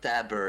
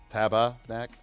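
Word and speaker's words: tabarnak: i put i say tabernac you guys say it all fancy like yeah it's not dabber it's taba taba back like tobacco okay okay gotcha oh much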